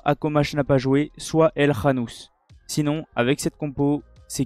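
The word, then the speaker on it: El Khannouss: au Maroc contre l'Espagne, El Khanous. Si on dit ça comme ça, ou El Khanous. Je pense que c'est plutôt El Khanous qu'on prononce.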